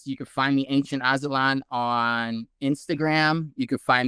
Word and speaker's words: Aztlan: Yeah, it's it's a really trippy word, you know, ancient Atzlan then that's spelled a n c i e n t a z t l a n. That's Atzlan and it's kind of like a silent z.